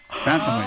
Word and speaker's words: Bantamweight: You kind of said it like it was 3 words, but that's okay. Well, I mean, that's the best way, like, for me not to try to fucking, like, bantam. Okay, so... syllable by syllable. All right, how do you actually pronounce it? It's bantamweight. Just Yeah, bantamweight. Yeah, just how you said it. Exactly, but fast.